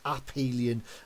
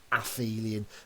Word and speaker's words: aphelion: then we have the aphelion okay notice the pronunciation there it's called the uphelion don't try and angle size it and say aphelion we've obviously as we said we've got that